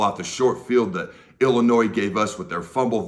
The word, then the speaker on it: Illinois: if you didn't know about Illinois where the S is silent and look at what